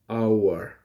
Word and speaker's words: hour: It begins with the letter H, but the letter H is silent for hour. Therefore, it becomes an hour because the beginning letter or sound is ow, hour.